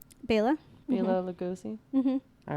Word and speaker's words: Bela Lugosi: Bela Lugosi?